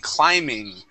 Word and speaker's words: climbing: the word correctly, saying climbing. Okay, remember that B is silent.